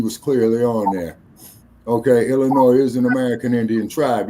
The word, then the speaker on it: Illinois: me okay okay uh the S is silent in Illinois yes sir I'm quite familiar with that D crew yeah it's a French word actually you're right okay Illinois so uh once again